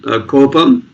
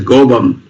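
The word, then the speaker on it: கோபம்: You have this word in Tamil, kopam. Yes, kopam. Some people will pronounce it as gobam. Yeah, kovam they use.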